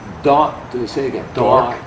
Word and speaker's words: D'Artagnan: How would you pronounce it? D'Artagnan. D'Artagnan.